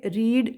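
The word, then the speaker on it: read: दोनों फॉर्म्स होते हैं, वर्ब 1 में रीड बोलते हैं, verb 2 that is the past form में रेड बोलते हैं, स्पेलिंग वही रहती है, और पास्ट पार्टिसिपल में भी स्पेलिंग वही रहती है, बट उसको हम प्रोनाउंस क्या करते हैं? रेड।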